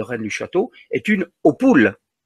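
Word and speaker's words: Hautpoul: lu château est une opoule H a T P o u l mais opoule à côté de périlos si il s'écrit plus simplement en phonétique c'est la même c'est auoule alors y a-t-il là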